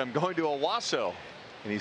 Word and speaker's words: Owasso: Owasso.